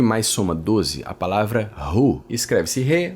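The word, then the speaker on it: הוא: soma 12 a palavra ru escreve-se re V Alef esse Alef no final ele não se pronuncia mas é como se fosse um som engolido uma pausa então a pronúncia da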